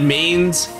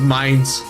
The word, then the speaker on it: Mines: Oh man, I pronounced it Mains. It actually is pronounced Mines.